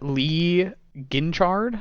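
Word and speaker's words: Guinchard: But Lee Ginchard, I believe is how you say his name.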